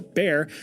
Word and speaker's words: Bayer: BA, or more commonly pronounced, buyer or bear, decided to take a stab in the lab to produce something fab.